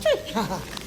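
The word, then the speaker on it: Twi: It's spelled T-W-I, but it's pronounced tree.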